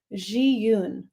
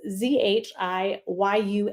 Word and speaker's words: Zhiyun: So again, this is by a company, and I'm not even going to try and pronounce it. No, I will. Zhiyun. It's Zhiyun.